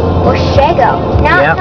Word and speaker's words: Washago: I got last year's, Washago sounds like wasabi. Yeah. It's pronounced Washago. Washago.